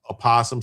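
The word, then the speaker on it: opossum: Uh, Greg says, "Being a former Portlandian, it's definitely pronounced apossum silent O.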